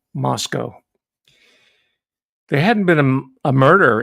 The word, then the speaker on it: Moscow: That's how it's pronounced, by the way, Moscow. Rhymes with Costco. Not Moscow, Moscow.